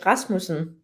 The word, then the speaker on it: Rasmussen: go yeah i'll try i'll just say in danish it's a rasmussen okay sound in the